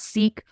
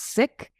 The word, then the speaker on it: Sikh: and when I say sick oftentimes people call us seek call our faith as uh Sikhism or seek ye it's actually decolonizing language and in our spirit of being inclusive it's actually pronounced sick and sick here Sikhism